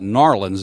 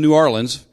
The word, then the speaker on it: New Orleans: to New Orleans, but they call it Narlins down there. Narlins, you know, they don't, it's not New Orleans, it's Narlins, but Narlins. But anyway, I was in New Orleans. Because I say it right, they don't say it right.